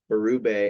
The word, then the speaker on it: Berube: duties uh we have Mr Craig am I pronouncing this right baru yeah yep there we go baru as the new head coach of the Toronto